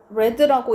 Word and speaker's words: read: 그러면 had not read의 pp형 뭐다? read라고 읽고 스펠링은 똑같고. 그래서 내가 만약에 carefully하게 신중하게